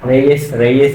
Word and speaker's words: Reye: Reyes or Reyes. I don't know lah how to pronounce it. It's REYE syndrome. Rey syndrome lah.